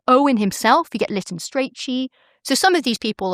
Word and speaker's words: Strachey: himself, you get Lytton Strachey. So some of these people are... You pronounce it Strachey, is that correct? Pretty sure. I'm English.